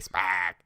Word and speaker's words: Spaak: So I just say Spaak. I know that extra A, Spack. It's like Affleck. It's like Catherine Smack.